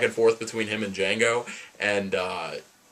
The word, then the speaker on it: Django: Jamie Foxx's character or Django the D is silent like grow as a